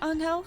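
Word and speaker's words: Anghel: it's angel i think i think it's pronounced angel because it's actually filipino but yeah higuer angel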